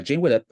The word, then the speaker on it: Jane Widdop: Stars a Jane widup is that how you pronounced yeah Jane widup a Joe mcale um Katherine Isabelle and Justin